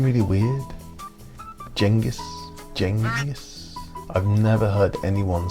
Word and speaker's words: Genghis: Most people have it completely wrong. Except really it should be Chinggis, but it's a bit pretentious so I don't say it.